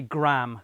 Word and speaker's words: graham: differences in pronunciation situations I believe most Americans say graham crackers one syllable with an American accent